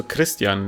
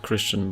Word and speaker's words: Krystian: I mean, I'm also Krystian, not Christian, but whatever. Oh. Wait, how do you say that? Krystian? Oh, that sounds so cool. It's a Polish pronunciation.